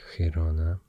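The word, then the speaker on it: Girona: name and um uh this province here is hirona in catalon and Heron castian not a huge difference oop sorry and uh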